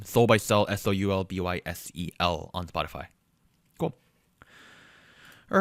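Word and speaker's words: Soulbysel: check it out for our audio listeners this is spelled s-o-u-l-b-y-s-e-l compilation um under the artist name Soul by cell s-o-u-l-b-y-s-e-l on Spotify cool all right I'm gonna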